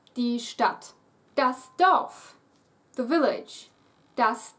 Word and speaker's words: Stadt: Ignore the D, it's pronounced exactly as if it were two T's standing there. Die Stadt.